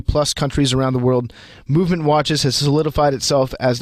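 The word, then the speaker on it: MVMT: free shipping and free returns by going to movement comm I'm gonna spell that for you it's MVM t-dot-com that's MVM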